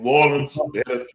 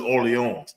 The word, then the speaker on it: Orleans: New Orleans. Hollywood these nuts. Orleans. It's supposed to be Orleans, but you know us. That shit say New Orleans, but it's Orleans.